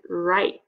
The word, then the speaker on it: write: this one right here w r just sounds like an r okay so they are working as a team but we are only hearing the r in this words like right okay you know how to write a paragraph that is a time when we see w r but we really only say the r sound okay um now over